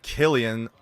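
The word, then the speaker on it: Cillian: famed actor Killian Murphy no it's not pronounced San it's Killian despite the spelling of his name with a c you may know him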